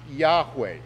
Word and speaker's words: Yahweh: the lord's name seriously in hebrew it is pronounced yahweh and the name is taken so seriously by